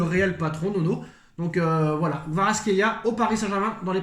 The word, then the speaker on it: Kvaratskhelia: Donc on va se contenter de, excusez-moi pour la prononciation, Kratishvala. Kvaratskhelia, tu dis Kvaratskhelia, Vara.